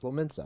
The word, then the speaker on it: Lominsa: That's what it is, Lominsa. I figured out how to pronounce it again.